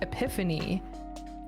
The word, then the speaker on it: Epiphone: epitome but like i've i've been corrected by people by saying epiphone e-p-i-p-h-o-n-e is pronounced epiphany and i'm like no is this how